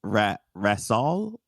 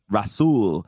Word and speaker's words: Rasool: How do I pronounce your first name? It's Rasool. Rasool.